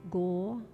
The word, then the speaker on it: Gauranga: The mantra is Gauranga, and it's said in 4 syllables. Gauranga.